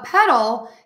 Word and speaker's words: petal: number one pedal a petal can also be a flower the colorful part of the flower and it is spelled differently but this is a homophone and The Petal again